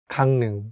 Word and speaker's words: 강릉: 강릉 (gangneung) “Gangneung” Next we have 강릉 (gangneung), 강 (gang) 릉 (neung) “Gangneung”.